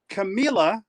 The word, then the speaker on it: Camila: Camila says, yes. Rhymes with tequila? That's it.